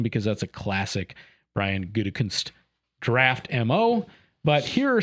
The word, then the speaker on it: Gutekunst: as some people make you say it correctly, Gutekunst, wouldn't ever want to do is play his hand.